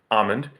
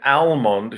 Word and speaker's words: almond: to English you get almond and when it came straight from Greek you got amygdala right hence why the L is not pronounced it's a legacy of